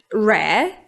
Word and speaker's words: rare: So, it's comprised of two parts: 'rare' and 'ly'. 'Ly' is easy I think, but how do we pronounce 'rare'? In non-rhotic accents, like British or Australian English, we basically pronounce a long /e/ sound.